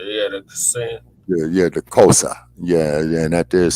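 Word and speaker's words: Xhosa: Sunset and uh she was of zulu and kosa uh back that's the one I was thinking of kosa yeah had a yeah the kosa yeah and that there is spelled x h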